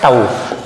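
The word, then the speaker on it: tau: इसका नाम है टाऊ। इसको हम है ना प्रोनाउंस करते हैं टाऊ करके।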